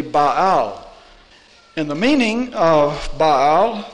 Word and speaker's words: Baal: what they mean baal-ism if you were pronouncing that those of you who have studied hebrew here it would be ba'au and the meaning of